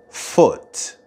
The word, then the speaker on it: foot: not to foot and listen carefully for the vowel sound in the word foot foot we won't be leaving